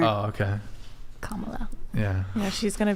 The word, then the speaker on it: Kamala: Like a comma, like a punctuation mark. Oh, okay. Kamala.